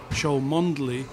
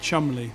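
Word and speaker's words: Cholmondeley: and when you see a family name like show mondeley and discover it's actually chumley and so it's all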